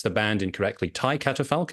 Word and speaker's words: Thy Catafalque: pronounce the band incorrectly Tai catapal is that how I should say yeah that's AB but that's in English this is English so